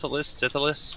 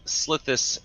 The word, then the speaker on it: Slithis: Is it the Syphilis? I'm not sure how to pronounce it. Nice. Did you say the Pharosan syphilis? Something like that. I tried to say Slithilis. Okay, it's the Pharosan Slithis Escort.